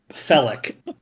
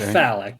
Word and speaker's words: Felic: his name is felic felic felic not phallic felic tomato I mean are